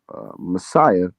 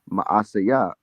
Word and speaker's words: Maaseiah: And Zechariah, a mighty man of Ephraim, slew Messiah, the king's son, in Azrikam. It's Maaseiah, the king's son, and Azrikam, the governor of the house, and Elkanah, that was next to the king.